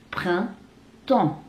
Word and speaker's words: Printemps: Printemps. Printemps. Printemps. Bedanya un dan en.